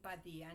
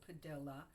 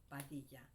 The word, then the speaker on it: Padilla: is Padilla, and I have to pronounce my name Padilla, not like they used to pronounce it when I was in grammar school, Padilla. And that's another story why it's it's traumatic for me and that's why I want to say Padilla.